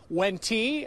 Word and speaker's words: Wente: you see it w-e-n-t-e it's when tea like in venti coffee i got that from